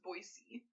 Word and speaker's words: Boise: I feel like when my birth dad lived there, he was always like, the correct pronunciation is Boise.